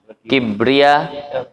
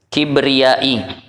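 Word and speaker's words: كبريائي: Kibria. Enggak, kibria. Kibriyai. Nah, cara baca kibriyai.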